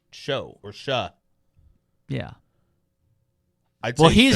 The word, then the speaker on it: Shough: Yeah, I have not seen a C or a K or a CH. Yeah, I don't. It's like OUC, or no, it's OUGH. Yeah, SHOUGH. Show. It's show or sha.